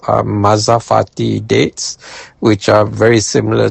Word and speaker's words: mazafati: And the dates that I prefer are called mazafati dates which are very similar to another date called rotab. Mazafati is spelled m a z a f a t i.